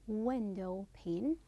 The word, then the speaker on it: window pane: board then window pane it is window pain the pain is unstressed and the other one which is cell phone it is cell phone try to to pronounce the first one that's louder and longer vowel okay so these are